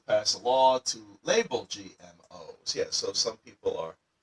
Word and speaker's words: GMOs: Sometimes I'll see students in this sort of situation read it as GMOS. No, that would be wrong. It should be GMOs. The S small at the end just makes the abbreviation plural.